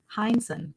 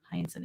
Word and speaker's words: Heinsohn: Heinsohn. You got it. Wait, did I? Is there more than one? There's more than one H. Oh, yeah, the second H. Heinsohn H is silent.